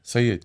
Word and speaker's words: Sayed: And pronounced Sayed, right? Sayed, correct, Sayed, yeah.